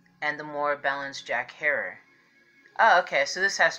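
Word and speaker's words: Herer: They said just think of terror. Terror. Harer.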